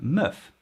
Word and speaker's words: meuf: you think is the valancia well it's la muff which is verlant for la fam this is